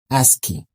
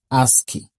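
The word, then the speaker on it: ASCII: H the answer is a S c i pronounced as ASKI. Let's say together ASKI.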